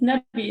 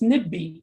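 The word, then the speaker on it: نبي: It's actually not nabi, it's nibbi. So nibbi ni'raf min, like, which is like we want to know who. If this was a standard Arabic, it would be pronounced as nabi, which means prophet, but dialectally, it's actually pronounced in a different way, nibbi, but they are written in the same way.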